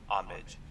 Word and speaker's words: homage: to say a word the correct pronunciation of this word is homage homage time English was